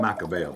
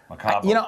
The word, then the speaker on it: Macabeo: I call it Macabeo, but other ones call it Macabeo. I've heard different pronunciations, Macabeo and Macabeo. I think it kind of depends on where you're from in Spain.